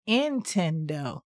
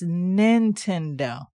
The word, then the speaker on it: Nintendo: the right pronunciation was he would say it's not intendo it's Nintendo well anyway I guess I'm